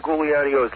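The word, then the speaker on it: Giuliani: with uh mayor New York mayor Rudy Gano Gano that's the proper pronunciation yeah oh yeah well the mayor must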